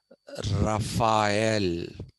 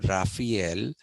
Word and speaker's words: Raphael: time by the Renaissance painter Rafel okay please pronounce that as rafhael okay uh Americans for some strange reason have converted that pronunciation into Raphael it is not rafhael it is Rafel and